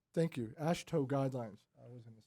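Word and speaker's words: AASHTO: conform with the a a s thank you ash toe guidelines i was gonna say it wrong and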